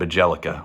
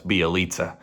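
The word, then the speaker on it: Bjelica: Or do you try to play Kevon Looney, Bielitsa, which is it's spelled Bajelica, which is what I always used to call him, but I recently found out it's Bielitsa.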